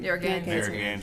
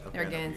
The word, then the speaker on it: Narragansett: Spell it for me. It's Narraga. Narragansett. Thank you very much. Narragansett.